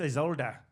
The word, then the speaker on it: Isolde: She's like, it's Isolde. Isolde.